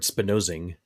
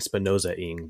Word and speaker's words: Spinozing: And just so actually I get an excuse to correct my pronunciation of the word Spinozing. I was saying Spinoza-ing before.